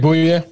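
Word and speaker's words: Bouye: Boye? Is it Boye?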